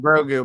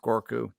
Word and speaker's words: Grogu: connection here yeah yeah george we're typing grogu but i'm pretty sure it's pronounced gorku okay yeah yeah um now